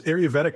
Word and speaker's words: Ayurvedic: Ayurvedic? Oh, yeah. So this is Ayurvedic medicine.